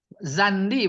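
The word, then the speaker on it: زندي: Zandi bacanya ini. Zandi. Bifathizai. Usukunin nun. Watasdidil ya. Tasniyah.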